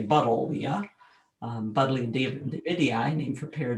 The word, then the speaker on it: Buddleia: Okay, hibiscus, Buddleia, named for David Buddle. So we should say Buddleia.